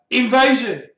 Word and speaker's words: Invasion: Heat infused ice invasion. Invasion is pronounced the French way.